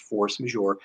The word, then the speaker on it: force majeure: horse major is french though it is actually pronounced force major force major means higher force um americanized it is what